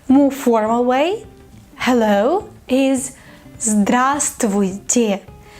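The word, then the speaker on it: здравствуйте: period trivia tech move far away hello is grass Tweety grass Tweety a bra straw tea pay attention to the pronunciation Cosmo don't say Bravo stow it sir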